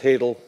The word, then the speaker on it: hadal: It autocorrects to halal when you type it into an Apple product. It's pronounced hadal, means something very different, and it's basically in keeping with this bathyal, abyssal, and hadal.